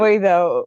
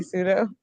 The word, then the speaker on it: pseudo: Suedo. Yeah, he pronounced it as Suedo.